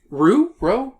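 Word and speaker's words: Roux: luggage and pet griffin, Rue? Okay. It's spelled R-O-U-X, that's why I was like, I think it's Rue.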